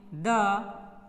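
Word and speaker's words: the: उसी प्रकार द को बोलते हैं हम लोग वीक फॉर्म में द या दी, लेकिन स्ट्रॉन्ग में ये होता है दी।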